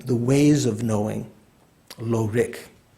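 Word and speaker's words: rigs: there's a different it's although it's pronounced the same rick it's spelled differently like r-i-g-s one doesn't say rix and tibetan one still says rick when spelled that way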